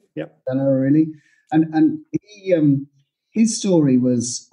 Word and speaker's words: Dan Ariely: the past a book by, I can never pronounce his name correctly, but I can put it in the notes later. Dan Ariely, I think it's. Yeah, Dan Ariely. Yeah. Dan Ariely.